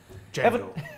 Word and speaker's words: Django: Django. What? The D is silent.